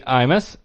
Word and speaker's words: Imus: part-time patron Russell Mandy Imus rhymes with schmear marshmallows aka John of